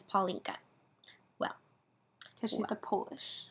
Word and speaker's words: Paulinka: and your twitter says paulinka well because she's a polish because a cute way to say my name in polish is paulinca paulina paulinca and so everyone else favorite